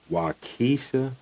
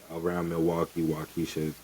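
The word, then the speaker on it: Waukesha: Um, number eight, Milwaukee, Wisha, Wisconsin. Wisconsin. It's spelled W A U K E S H A. So, it's Polyw. Yeah, Wisha. So, it's Milwaukee Wisha, Wisconsin.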